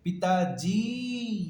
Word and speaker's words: पिताजी: ये साउंड में पिताजी, you stress on द जॉ, जी, और जिसमें स्ट्रेस आता है वो बड़ी होता है। पी, पी क्विकली खत्म कर दो, पी खत्म, जी, पी, जी, इसलिए छोटी है बड़ी।